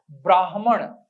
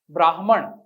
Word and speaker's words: ब्राह्मण: ही आप याद रखें सही वर्तनी है और सही उच्चारण है ब्राह्मण जिसे ब्रह्म ज्ञान है ब्राह्मण और उसको हम संयुक्त